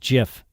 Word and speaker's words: GIF: 1987 says it's pronounced gif there you go so like like the peanut butter like the peanut butter